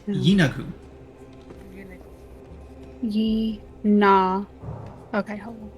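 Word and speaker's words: Yeenoghu: The phonetic pronunciation is Yinagu.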